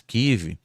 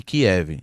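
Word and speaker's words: Kyiv: Porque, por exemplo, aqui na nossa mídia tradicional, muit das vezes, KIV é chamada de Kiev. Segundo a Débora é uma pronúncia russa, não só Kiev, como demais eh palavras que eles tentam russificar.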